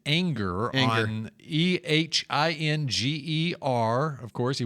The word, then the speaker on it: Ehinger: And we're hearing the pronunciation Anger.